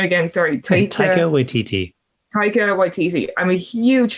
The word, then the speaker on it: Taika Waititi: And I'm a huge fan of, pronounce his name again, sorry. Taika Waititi.